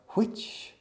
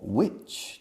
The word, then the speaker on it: which: Aspirando la H, como soplar, which o which table.